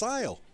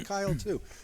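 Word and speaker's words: Cyle: CY l e and some people think that because his first name begins with C that the the name is pronounced Syal thinking it's a soft C but it is more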